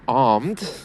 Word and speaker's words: armed: That if someone's armed, it means they're carrying a gun. It's the same words as having two arms. The R is silent in the middle.